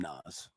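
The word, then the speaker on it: Naz: Now it's spelled N-A-Z, but I think they call him Nas.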